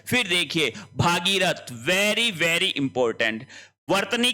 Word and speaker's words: भगीरथ: ठीक है फिर देखिए भागीरथ वेरी वेरी इंपॉर्टेंट वर्तनी की दृष्टि से भागीरथ शब्द गलत है तो शब्द क्या होगा भगीरथ होगा भगीरथ लेकिन ध्यान ध्यान रहे अगर भागीरथी आता है यह यहां पे सही है।